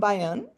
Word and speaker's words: Byun: Bayion.